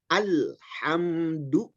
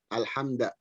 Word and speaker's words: الحمد: kadang-kadang bacanya alhamdulillah, ya, alham itu tidak boleh. Pembacanya harus alhamdu. Alhamdu. Alhamdu. Kadang-kadang kita juga malas bacanya alhamdulillah, alhamda. Itu salah. Alhamdu itu dhammah. Kaidahnya la tatimmu dhammatu illa bi dhammis syafatain. Dhammah tidak sempurna terkecuali dengan memonyongkan kedua bibir.